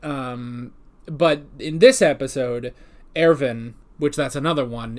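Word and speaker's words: Erwin: long time but um but in this episode ervin which that's another one it's spelled uh irwin but it's pronounced airven which actually that one i'm totally fine with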